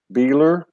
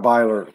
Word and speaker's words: Beiler: Susie from Sedona, Beiler. What Beiler?